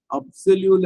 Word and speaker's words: absolue: இங்க உச்சரிப்புல கவனிக்க வேண்டிய விஷயம், இது முன்னாடி இது வரைக்கும் சொல்லாதது. அப்சல்யூல இருக்கிற பிய வந்து பின்னு சொல்லாம கிட்டத்தட்ட பி மாதிரி சொல்லுவோம். அப்சல்யூ, கான்ஃபியான்ஸ் அப்சல்யூ. அது வந்து ஒரு மெத்தட்.